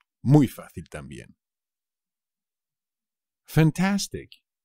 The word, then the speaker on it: fantástico: p muy fácil también fantástico fantástico también es fácil pero no os olvidéis del acento en la segunda pico me parece fantástico